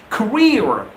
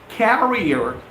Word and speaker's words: career: wants to make his career he wants to make his well it's not carrier it's career he wants to make his